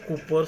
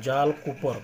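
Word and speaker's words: Jal Cooper: Government issued the जाल कूपर stamp इन 1977। अभी हमने ये जो पिक्चर देखा, ये जो है, ये देखो जाल कूपर, प्रोनाउंसिएशन जाल कूपर, कॉपर नहीं करने का है, कूपर।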